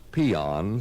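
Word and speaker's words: paean: dictionary you will find a word pronounced peon spelled p-a-e-a-n it means to praise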